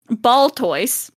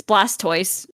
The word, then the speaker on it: Blastoise: So you get my bad pronunciation instead. Ball toys. It's It's Blastoise that it is.